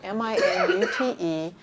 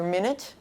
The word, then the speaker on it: minute: This is the second in the series, and it's spelled M-I-N-U-T-E, which is either minute or minute.